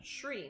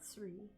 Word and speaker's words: Sri: Shri, not Sri.